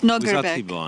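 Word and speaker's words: Nodirbek: It's Nordibek. Nordibek, yeah. As a Brit, I really mispronounce Nordibek's name. So, and then I only managed to get a grip when I realized, okay, it's like a Spanish no.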